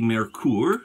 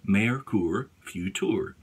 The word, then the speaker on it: Merkur Futur: and take time to insert it into the Mercure the Mercure or the merker as some people call it the Merkur future the merker future or actually Americorps futour is the proper pronunciation mayorkur futur okay I usually do a setting as low